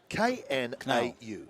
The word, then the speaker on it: Knau: Now, is that Knau or Now? K-N-A-U. Knau. Knau.